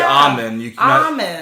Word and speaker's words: almond: almond but it's actually Amin you're not supposed to say that L it's actually silent don't say with L